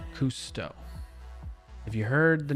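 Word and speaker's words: Cousteau: Last name pronounced custoto. Kusto.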